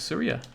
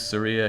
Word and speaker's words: Saria: How Jake pronounces Saria cuts deep into me. I always pronounce it with a long A. What, Saria? Or Saria?